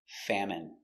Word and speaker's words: famine: Pronunciation, famine. A, fa. M, fam. I, fami. N, famine. Famine. Stress on the first syllable.